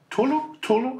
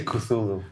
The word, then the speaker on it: Cthulhu: Tulu? How do you pronounce it, actually? I say Cthulhu.